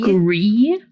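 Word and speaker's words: Gris: Gree. How do you spell that? Gree. G R I S. Uh, like gray in French.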